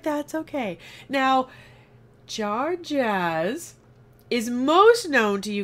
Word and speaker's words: Jajarz: Jajarz.